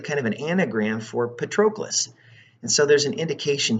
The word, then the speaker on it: Patroclus: They're sent, and with Achilles is his friend Patroclus.